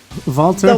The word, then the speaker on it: Walter: Well, McGinnis calls him Volta. Okay. But it's right. Walter. It's Walter with the W? Yes. All right. Not the Volta.